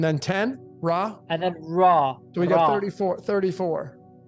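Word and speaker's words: ر: go to the next combination and that is pronounced raw so the letter r or R is pronounced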